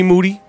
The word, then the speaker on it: Moody: And I'm here with my co-host, Chi Moody. Last name rhymes with Doody.